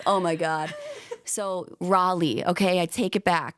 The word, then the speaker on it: Raleigh: like all right Kelsey buckle up to say Raleigh because that's the right way to say it